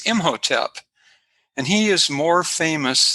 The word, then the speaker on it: Imhotep: it in hieroglyphics but how it's been pronounced uh traditionally is imhotep and he is more